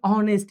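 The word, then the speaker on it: honest: Letter तो है मेरे भाई कोसोनेंट लेकिन ऑनेस्ट इसका प्रोनाउंसिएशन ऑनेस्ट होगा। यानी कहीं ना कहीं अ से शुरू हो रहा है।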